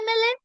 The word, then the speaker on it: MLA: m right what is the first sound e so this is the vowel sound that is why it's an mla same thing is with s if s will sound has s like spoon.